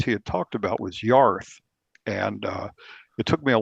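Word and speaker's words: Jörð: And her name looks like it's pronounced Jord, but it's actually pronounced Yarth.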